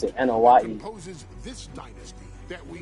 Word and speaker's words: Anoa'i: And for me, none of that compares to the relationship I've built with the Anoa'i, Fatu, Anoa'i. That's how you pronounce it. I always forget how to pronounce it. Anoa'i.